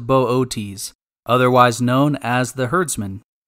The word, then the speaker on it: Boötes: to locate the constellation Bootes properly pronounced Bootes otherwise known as the